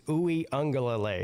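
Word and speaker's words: Uiagalelei: He's like, it's very easy. It's Uwe Ungalale.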